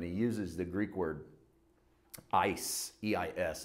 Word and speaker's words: eis: When Jesus says for judgment, he uses the Greek word eis, E-I-S. It's pronounced ice, like literally like frozen water, for the word for.